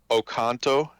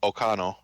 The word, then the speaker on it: Oconto: will pronounce it Ocano. Ocano. So Yeah. just completely leave out the T.